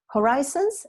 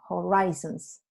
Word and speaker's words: horizons: Horizons, se dice horizons, no horizons, de horizonte.